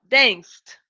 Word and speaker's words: danced: The sound is of C. Yeah. C, no, sorry, S. That's why we're going to use here. Okay. Danced. Danced. Right? I know the letter E is not here, okay? But I want you to think about the sound. The sound of dance is similar to miss. Dance, miss.